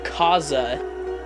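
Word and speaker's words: Kasza: This is a Kaza. That's, I believe, how the brand is pronounced. K-A-S-Z-A.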